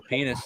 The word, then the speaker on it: Penix: I don't think Michael Penis is going to get drafted in the first round. It's so weird to me that the X is pronounced like an S, but I see that though.